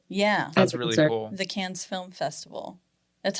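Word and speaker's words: Cannes: oh did it yeah that's really cool the can's Film Festival that's how you pronounce it right yes it is okay she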